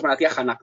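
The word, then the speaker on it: भारतीय जनता: al partido Bharatiya Janata, no lo voy a pronunciar bien. Janata, el término hindi correcto es Bharatiya Janata, aunque luego está el término inglés que se usa también en la India como lengua oficial.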